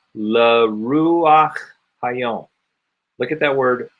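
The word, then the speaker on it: רוח: This only happens with the patach, and it only happens with the chet. So we say ruach instead of rucha.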